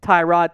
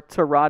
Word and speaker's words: Tyrod: Instead, it is Tyrod Taylor, or Tyrod, depending on how you want to pronounce it. He's fine either way.